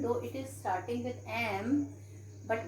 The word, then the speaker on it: MP: is starting with m but what is the pronunciation it is m b okay so here we write and mp because even though it is starting with constant letter but the sound we are having here is verbal sound so we put